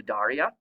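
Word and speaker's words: Cnidaria: slide the next phylum is the Daria the C is silent and the Daria have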